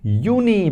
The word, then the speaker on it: Juni: Then we have Juni because J is pronounced as Y in German. So that is Juni, not Juni.